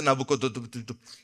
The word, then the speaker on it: Nabucodonosor: Se dice Nabucodonosor. Ese es normal.